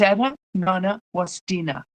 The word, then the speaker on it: Eda Nana Wastina: I made a video on how to pronounce this name. And I'll leave you with this thought. It's Eda Nana Wastina.